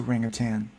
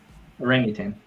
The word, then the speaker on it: orangutan: a ring of tan no no you don't pronounce it literally for frenetic like yeah orangutan the Ring of there's no G on the end guys yeah I'm not putting a g either orangutan you're just like